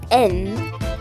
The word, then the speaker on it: Н: The next one looks like an H, but it's actually pronounced as N.